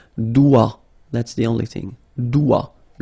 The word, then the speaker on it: doigt: Okay, so don't be frightened by this G because basically you don't pronounce it and then the final T you don't pronounce it. So the only thing you get to pronounce is this combination of three letters, here, D, O, I, okay? O, I, it's wa, and then D, doigt.